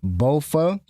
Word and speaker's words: Boafa: Um I'm going to pronounce that name over and over again. Boafa.